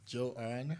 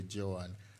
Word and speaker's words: Joanne: And just to make clear, I believe I may have mispronounced Joanne. I called her Joan. I think it should be Joanne.